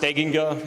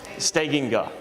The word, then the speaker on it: Steganga: It's actually pronounced Steganga, if anybody really wanted to know, but I answer to just about anything. Steganga.